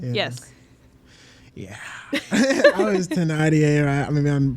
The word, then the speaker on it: Thénardier: It's French. It's Thénardier or something. I think it's Thénardier. Or is it? Wait, no. It's spelled with a TH, but French.